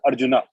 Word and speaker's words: Arjuna: let me answer you the correct pronunciation is not urgent it is Arjuna Arjuna um it is not